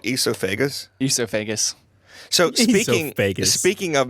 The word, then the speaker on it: esophagus: It's actually called esophagus. Esophagus. So Esophagus. speaking of mispronouncing things, Yes.